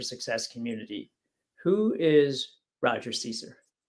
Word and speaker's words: Caesar: And let's before we get started, let's correct the last name Caesar so that they know Caesar.